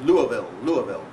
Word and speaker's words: Louisville: All these towns in the United States, you have ways of pronouncing. I was in Louisville a few days ago, and I told it's Louisville. Yeah. And if you're in Missouri, you're not really there until you say Missouri, and so on.